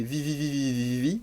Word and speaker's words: VVVVVV: parlerai peut-être plus tard, c'est Vivi, ou VVVVVVVV, si vous voulez prononcer comme ça, donc avoir à lire,